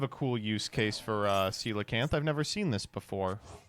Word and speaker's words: coelacanth: Why do you say coelacanth wrong? You're gonna hate this. That is how you say it.